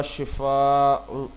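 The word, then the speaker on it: شفا: है मौत गड़ा किनारा लोग अक्सर कहते हैं अल्लाह आपको नौजुबिल्लाह शफा दे यह दुआ नहीं बल्कि बददुआ है हमें कहना चाहिए अल्लाह आपको शिफा शिफा शिफा दे हवाला यह कुरान हम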